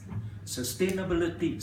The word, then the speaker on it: sustainability: American it is scenario sustainability six syllables take your time sustainability a seat for